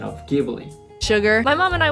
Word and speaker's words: Ghibli: english so once again in japan we say jubilee but in the previous video she said ghibli right so after watching that video i looked